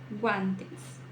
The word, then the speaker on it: guantes: tem gato guantes aqui não só a pronúncia do G mas também é do a guantes e não gu gua guantes gafas gente gesta gênero